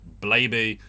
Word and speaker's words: Blaby: fun but you know i can see blaby in blaby i don't see grooby in grubby and i don't see